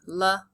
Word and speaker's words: likes: The I says its name, likes, and the E is silent.